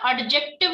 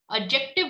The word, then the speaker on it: adjective: Listen, इसको ना adjective नहीं बोलते, D is silent. Okay, adjective बोलते, adjective. Adjective, D sound नहीं लगाएंगे.